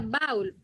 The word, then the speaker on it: baúl: Para marcar que no se va a pronunciar como diptongo, sino que se van a dividir en dos sílabas.